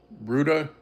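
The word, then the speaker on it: Rutte: read the NATO charter, understand what it means because the the secretary general of NATO, uh, Bruta, I think is how his name is pronounced. It's ru TT said over the weekend he said, "We will defend."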